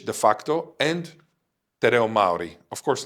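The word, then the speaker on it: Māori: Te means the, Reo means language, and Maori means Maori with a long A.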